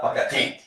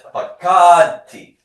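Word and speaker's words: פָּקַדְתִּי: If I don't put an accent mark, I'm gonna pronounce this Pakati. But it's not Pakati. It's Pakati.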